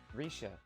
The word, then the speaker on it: Rixia: Rixia, we don't have much wiggle room here. Risha, though I wouldn't expect you to pronounce it correctly, rolls her eyes.